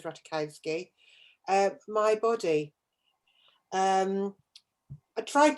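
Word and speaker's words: Ratajkowski: get this one emily ratakowski is how she pronounce it i'd say ratakovsky but she says ratakowski my body um i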